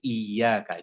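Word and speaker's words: إيّاك: untuk kita perhatikan adalah iyyaka. Itu ada syaddah. Ya, ada syaddah di atas ya. Syaddah di atas ya itu artinya kita membacanya double ya-nya.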